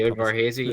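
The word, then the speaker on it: Udvar-Hazy: and Space Museum and then I'm probably gonna mispronounce it but like the other one the Advarhazy. Yeah the Varhazy. Verhazy.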